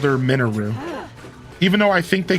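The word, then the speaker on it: Mineru: This game actually corrected me and called her Minou, even though I think they corrected me in Tears of the Kingdom as well. But regardless, they called her it's it's Minou. It's not Manu, but you know, whatever.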